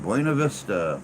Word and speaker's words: Buena Vista: buena that's it that's it that's how you pronounce that buena vista florida what happened to simple english i love